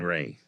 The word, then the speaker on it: Rhea: Caroline Ray. Right. Like Ray, like And Ray's Pizza.